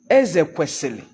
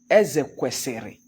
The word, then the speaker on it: Ezekwesili: If someone's name is Ezekwesili and you pronounce it Ezekwesiri, he wants to remind you that he is not Ezekwesiri, that his is Ezekwesili.